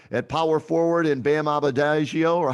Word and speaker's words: Adebayo: PJ Tucker at power forward, and Bam Adebayo, or how do you say his last name? Bam. Adebayo.